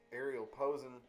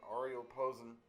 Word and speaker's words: Ariel Posen: His name is Ariel Posen, or Ariel Posen, depending on what demographic and where you are is how you pronounce it.